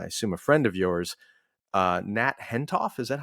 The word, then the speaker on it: Nat Hentoff: eventually became, I assume, a friend of yours, Nat Hentoff. Is that how you say his name? Yes, Nat Hentoff.